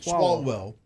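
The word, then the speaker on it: Swalwell: Salwell. Swallwell.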